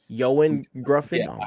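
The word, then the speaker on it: Ioan Gruffudd: Gruff or gr grind I'm pretty sure it's Ian grffin that's I've looked it up it's it's yoan yoan yoen grffin I know it's so annoying yeah yo we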